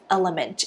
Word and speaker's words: LMNT: brand that I love and always recommend is element it is spelled out lmnt and this is the flavor